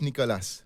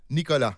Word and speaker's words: Nicolas: yeah not too bad forget the S at Nicolas Nicola Nicola yeah in French it's complicated sometime we pronounce the the what you see and sometime not okay Nicola Bolis exactly